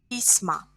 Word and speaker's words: письма: Письмо, письма. O becomes a. Письмо, o is stressed. Письма, here e is stressed. So our stress goes back in plural.